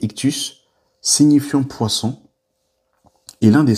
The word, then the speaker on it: ΙΧΘΥΣ: Le symbole ictus, donc c'est comme ça que ça se prononce he donc en fait c'est ictus signifiant poisson et l'un